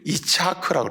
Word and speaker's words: 이츠하크: 본래 우리가 한글로 이삭이라 그러지 이츠하크라고 그래요. 이츠하크. 히브리어는 이삭 이렇게 읽는 게 아니고 이츠하크라고 읽어요. 히브리어로 이삭을 부를 때는.